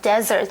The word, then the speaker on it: desert: OK，少了一个 s 呢，dessert 就会变成另外一个字哦，就是沙漠，而且发音不一样，就是 desert.